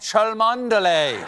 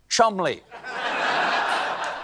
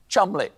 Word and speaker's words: Cholmondeley: the Marchioness of Cholmondeley. What a beautiful name that I'm being told right now that I pronounced incorrectly. It is, in fact, pronounced Chumley.